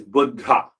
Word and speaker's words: Buddha: means old very old so the actual pronunciation is Buddha it comes from the